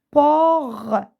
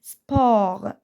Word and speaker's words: sport: ou très bien bien sport sport sport je prononce pas le T sport mage fromage très